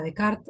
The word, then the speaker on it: Descartes: las proposiciones cartesianas no a decart o Descartes como es su pronunciación en francés Descartes como lo vamos